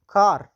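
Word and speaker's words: car: کار، کار، کاف اواز تلفظ کوي. ولې؟ چې وروسته ترې نه ای راغلی، نه آی راغلی، نه وای راغلی.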